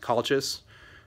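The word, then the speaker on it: Calchas: So the two kind of main viewpoint narrators of the story are, I believe his name is pronounced Colchis, who is a priest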